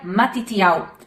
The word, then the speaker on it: מתתיהו: O nome Mateus vem do hebraico e ele se pronuncia Matitiau.